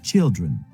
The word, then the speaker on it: children: children sont singuliers child voyez bien comment ça se prononce shine children c'est comme s'il y avait un thé au début children et pas children je vous vois bien